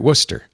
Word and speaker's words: Worcester: That's right, Worcester. Lisa yesterday was reading place names for some reason. She said Worcester. No one gets it right. Just ignore all the extra syllables in the middle.